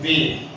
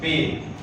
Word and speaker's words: bathe: If we talk about this one word, this is pronounced as bathe. Most of the people pronounce it wrongly. We pronounce it correctly, bathe.